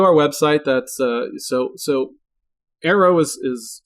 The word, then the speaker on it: Aero: always go to our website that's so so arrow is is spelled ero but it's pronounced arrow and it's